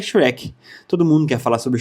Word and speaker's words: Shrek: Língua só na boca, arrasta a língua só na boca e fala Shrek. Shrek.